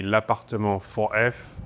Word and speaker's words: L'Appartement 4F: The official pronunciation would be la 4f.